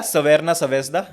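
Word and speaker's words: Crvena zvezda: और ये कहानी रेड स्टार बेलग्रेड की, या सवेरना सवेज्दा जैसे इनकी लोकल लैंग्वेज में इनके क्लब का प्रोनाउंसिएशन है।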